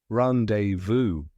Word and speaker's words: rendezvous: used for Planned meetings now the spelling tip it's spelled r e n d e z v o u s that Z is completely silent so don't be fooled now that you've got